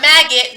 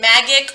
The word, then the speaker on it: magic: word we just said no not maggot magic what's a magic this is the g makes the sound j magic magic don't worry next